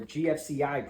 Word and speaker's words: GFCI: And then the other one that's most common in here is going to be GFI, or GFCI protection is the correct way to say that.